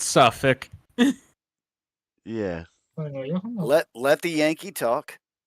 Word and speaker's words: Suffolk: Suffolk, New Folk, Suffolk, the Suffolk, right?